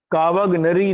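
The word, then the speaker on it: Cavagnari: British resident भी रखा गया मेजर काव निरी काव गनरी नाम है इनका कावा का वग नरी है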